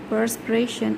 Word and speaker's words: perspiration: The exercise causes perspiration and a speeded up heartbeat. Okay, basically perspiration is written as P-E-R-S, perspiration, but when you have to pronounce it P-U-R, perspiration ran down his forehead.